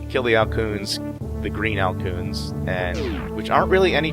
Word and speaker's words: Alcoon: Al soon or alphoon it's spelled kind of like raccoon except it's a-l-c-o-o-n so I say kill the